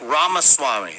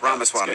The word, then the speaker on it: Ramaswamy: Yeah, it's like Ramaswamy, like CD-ROM, but yeah. Well, I said Ramaswamy. Yeah, you got it. Ramaswamy.